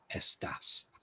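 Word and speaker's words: estás: on the second gomo there's an accent on s just to tell you the stress goes on the estas so we're going to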